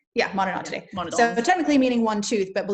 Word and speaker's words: Monodontidae: The Monodontidae, I think that's how you say it. Am I saying that right? Yeah, Monodontidae.